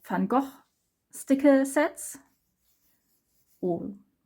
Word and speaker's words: Van Gogh: pronounced if you like go with the dutch pronunciation and this is also fungal and the last spread is basically again about